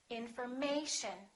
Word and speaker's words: information: stressed syllable right here the a information so we don't say in and we don't say m sh we don't say information we say information once again information and the final word